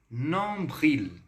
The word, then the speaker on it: nombril: Então, pronuncia aqui comigo. Nombril.